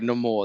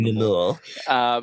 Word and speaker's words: Namor: And I thought Neymar was done so well. Like it would have been Sorry, Namore. That's the way they pronounced in the film. No more.